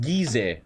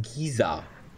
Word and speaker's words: Giza: They're pronounced Gizeh, not Giza. Are they? I don't know. In Germany we say Gizeh, so fuck you. You're pronounced wrong.